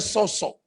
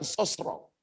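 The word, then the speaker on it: σώζω: Roh, jiwa, tubuh sehat itu dipakai bahasa Yunani itu seto bacanya soso, bukan sosro.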